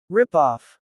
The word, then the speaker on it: rip-off: Ripoff. Stress usually falls on rip.